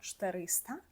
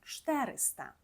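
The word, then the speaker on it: czterysta: польською - це 400 зверніть увагу тут на наголос падає не на передостанній склад як зазвичай а на третій склад кінця Тобто ми не кажемо 400 тільки правильно говоримо 400 500 - це ПС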